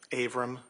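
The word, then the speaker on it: Avram: Aram. And would you spell your name for the record, please? Abram is spelled A V like Victor, R like Robert, A like Apple, M like Mary.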